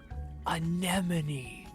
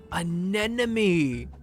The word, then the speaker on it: anemone: I might be gaslighting myself see anemone see an enemy nah the second one sounds right in my head anemone an enemy yes I'm having an existential crisis sleepy I'm s I've flipped the syllables on sea anemone well then you're wrong